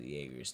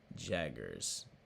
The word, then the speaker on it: Jaeger: We have to go to Jaeger's TPO. Jaggers. Oh, like Mick Jagger. Got it. Yeah. Okay. This whole time I've been pronouncing it like Jaeger.